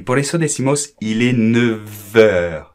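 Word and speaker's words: neuf: porque la F, bueno, primero se pronuncia la F en la palabra suelta, 9. Lo que pasa es que la F se transforma con el sonido como una V en francés. Va, va.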